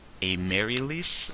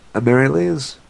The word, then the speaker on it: Amaryllis: A Marylease? Is that how you pronounce that? Amaryllis?